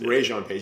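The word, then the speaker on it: Regé-Jean Page: Wait, Janae, how do you pronounce it? Rajon Page? Yes. Rajon Page.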